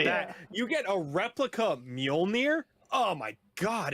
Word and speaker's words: Mjolnir: My PS5, my Mjolnir. That's how you pronounce it.